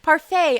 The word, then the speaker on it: parfait: Also, I think the tea and parfum is silent. So I was parfait.